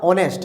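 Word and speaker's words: honest: क्या हो गया एयर क्लियर इसमें भी एच साइलेंट तो ये क्या कहलाएगा ऑनेस्ट है ना ओ से पढ़ेंगे ने नेस्ट नेस्ट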